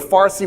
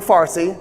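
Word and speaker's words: Fārsī: to be Farsi but Farsi was the Arabic attempt to pronounce Persian because there's no PA in Arabic they just made it affa so the so the so the Persians now have said no no we have PA and so they brought the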